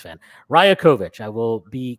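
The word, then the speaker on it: Rajaković: I think it's fair please pronounce the coach's last name correctly or just come Darko I looked it up it's Raya kovich sorry um thank you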